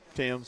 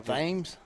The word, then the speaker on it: Tims: called out starting lineups apologize for that Tims Tims yeah yeah I I did you call him tames I think I said tames I didn't do the